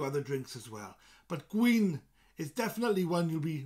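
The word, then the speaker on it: gwin: of wine and wine in Welsh is Queen Queen rhymes with green Queen g-w-i-n Queen what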